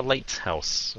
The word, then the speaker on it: lighthouse: Cái âm T ngay chính giữa cái chữ lighthouse đó. Đừng có phát âm đó, đừng có lighthouse. Okay. Chỉ cần light, nín thở lighthouse. House xuống giọng, lighthouse. Đừng có lighthouse, nó là lighthouse.